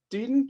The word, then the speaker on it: Dedan: Dedan, or I'm saying it wrong. Dedan, why don't you start? Sure, I'll jump in. It's Dedan, but as long as you start with a D, I'll give you credit.